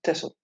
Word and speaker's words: Texel: Tessel is, you write it with an X, but you pronounce it Tessel.